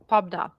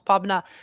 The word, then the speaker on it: Pabna: Pabna. That's how we pronounce Pabna.